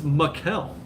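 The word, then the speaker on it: Maikel: Because the M-A-I looks like a Mai to me, like a Mai Tai. So it's Makel.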